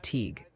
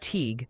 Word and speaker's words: Teague: It's Teague for Teague like league and reading PA.